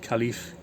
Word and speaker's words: Khalife: He's only 21, and he was probably getting picked on with a name like Khalife. That's how you pronounce it.